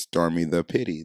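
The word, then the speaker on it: stormi_da_pitte: at s-t-o-r-m-i underscore d-a underscore p-i-t-t-e that is pronounced stormy the pity that is my favorite girl so now for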